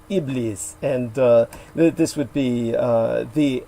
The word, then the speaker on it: Iblis: And the Arabic pronunciation would also be like, depending on the dialect, Iblis.